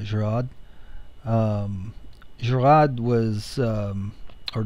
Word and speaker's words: Gouraud: um this is uh garage shading I think that's actually pronounced uh gerad um gerad was um